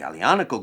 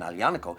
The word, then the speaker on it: Aglianico: But the Aglianico grape has been in this area for a very long time. It's actually known, Aglianico, as one of the grapes with the longest